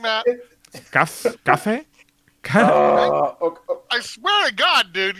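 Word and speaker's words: Café: No, it's cafe. It has an accent in the end. Cafe. Yes. Yes, yes. Not like cuff.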